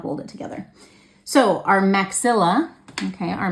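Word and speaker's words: maxillae: the middle so you might see it spelled with an AE at the end that's maxill and that's because that's plural because they're actually two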